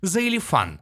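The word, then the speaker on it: Xilefian: чуть не забыл его никнейм произносится как заелифан Minecraft Live 2020 голосовой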